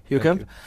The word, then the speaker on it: Heukamp: Heukamp. Is that the right pronunciation? Yes. Okay, Heukamp.